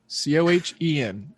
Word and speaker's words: Cohen: Remember, there's a silent H in there. Cohen. Cohen, like two chickens trying to exist.